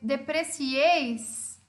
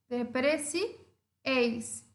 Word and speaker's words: depreciéis: Então, depreciéis é acentuado porque a última sílaba é a sílaba forte, depreciéis, cieis é a minha última sílaba, é a sílaba forte e termina em S.